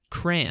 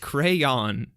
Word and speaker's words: crayon: No, I was like, it's not at all cran. Look at how it's spelled. Crayon.